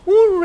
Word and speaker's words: Ure: How do you pronounce Ure. it? Ure.